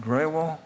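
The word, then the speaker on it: Grewal: Now, let me ask Professor Andy, is it Graywall? Graywall, yes. Graywall? Okay. I want to pronounce it right.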